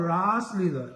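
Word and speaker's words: rāsa: in the rasa here the word rasa has a long a and it's because Russa with a short a which are the ingredients of emotion are are being tasted so it's called rasa in that Ras Lea all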